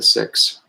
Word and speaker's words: Sikhs: is a tradition followed by the Sikhs also pronounce the six I follow in that